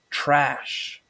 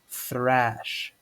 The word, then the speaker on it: thrash: First off, normally people pronounce thrash as trash, but it's actually pronounced thrash, thrash.